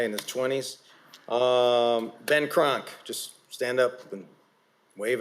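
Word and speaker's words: Kronk: Kron. Like the gym.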